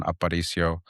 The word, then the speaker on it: Aparicio: Uh last name pronounced Aparicio. Uh if you're Yeah, you're a Spanish speaker and you roll your Rs, the proper way to pronounce my name is Aparicio.